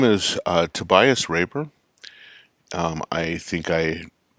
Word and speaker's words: Tobias: my dialect it's called Tobias okay but most of my friends either call me Tobias which is the German pronunciation or Tobias which is what people